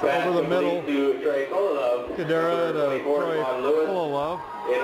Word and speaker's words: Fullilove: And I am pronouncing that name right. It's Trey Fullilove, F-U-L-L-I, Love, L-O-V-E.